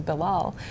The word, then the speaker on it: Bilal: And my son actually told me that he had a teacher who had trouble pronouncing his name, his name is ‘Bilal.’ And he said that this teacher said, ‘I'll